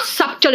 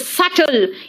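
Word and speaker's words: subtle: silent है है ना this is नॉट सबटल इट इज सटल यानी नॉट नोटिसेबल अगर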